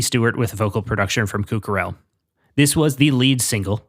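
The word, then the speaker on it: Kuk Harrell: Written by Jay-Z, Cucarell. I fucked up his name. It's not Cuck. It's K-U-K is how it's spelled. It's apparently pronounced Cucarell.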